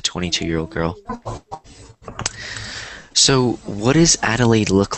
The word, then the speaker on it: Adelaide: So that's kind of a difficult name. Like, once you look at it, you might not know how to pronounce, but it's Adelaide. Kind of like that, Adelaide.